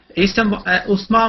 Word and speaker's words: Usman: Usman Muhammad.